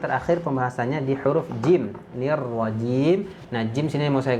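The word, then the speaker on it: الرجيم: Baru yang terakhir pembahasannya di huruf jim, nirwajim. Nah, jim sini mau saya garis bawahi, yaitu seringnya bocor. Nah, jangan sampai kita membacanya nirwajiji. Nah, itu ya. Huruf jim itu keluarnya dari tengah lidah.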